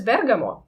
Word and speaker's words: Bergamo: even checked it um not only with dictionary but also with Italians that the the city or the town I'm not sure about the status uh it is pronounced as Bergamot and also uh this